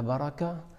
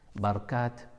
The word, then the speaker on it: baraka: le bas de la baraka c'est un mot qu'on entend avec ces différentes prononciations barkat baraka et c'est d'ailleurs on